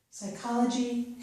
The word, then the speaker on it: psychology: In these two words, we do not pronounce the P sound, so we pronounce these as if they start with the S or S sound, okay? Psychology and psychiatry.